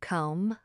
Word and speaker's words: comb: Or the word comb. The B at the end is completely invisible to your ears.